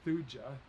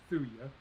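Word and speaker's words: Thuja: columbia this is thuia placata uh you might pronounce it fuja but most people pronounce it thuya plicata uh this is another conifer that's native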